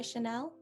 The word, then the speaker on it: Chanel: to mention that uh the e is going to sound a little bit less like an a and a little bit more like a very airy e there's a